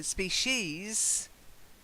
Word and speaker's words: species: So species, specious. Okay? Don't confuse the two.